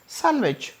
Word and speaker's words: sandwich: सब लोग जानते हैं सैंडविच नोट सैंडविच सैंडविच नहीं होता डी साइलेंट रहता है सैंडविच any person विच एनी